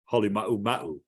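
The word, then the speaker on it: Halemaʻumaʻu: he's from Hawaii, and you have to pronounce it like the Hawaiian. So he trained me to say it the right way, but I don't like saying it because it makes me sound too Polynesian. But the correct pronunciation would be Hale Mau Mau.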